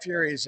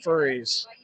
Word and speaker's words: Furies: I kept mispronouncing the Furies as the Furries.